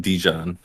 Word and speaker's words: JiDion: Is that how you pronounce it? JiDion, yeah. JiDion, yeah. People call him Dijon.